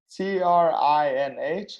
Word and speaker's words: Trinh: T-R-I-N-H. How do I pronounce it?